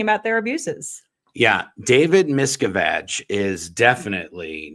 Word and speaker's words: Miscavige: David Miscavige, and all these other things. And I'm never going to say his name the other way ever again. It's Miscavige for the rest of time, unless I have a Freudian slip.